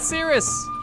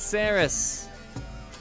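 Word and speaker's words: Cerys: new skele cards oh we got Cirrus nice or sarus said her name wrong we got sarus good where is she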